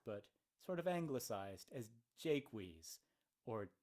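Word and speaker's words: Jaques: 1600 ad the English the British would have pronounced it not French as Jacques but sort of anglicized as Jake wheeze or Jake's and I know if you speak French just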